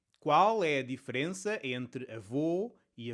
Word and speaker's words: avô: The difference between "avô" and "avó" depends on the size of the mouth when we pronounce ô and ó. In "avô", the mouth forms a small ô while in "avó" the mouth forms a large Ó.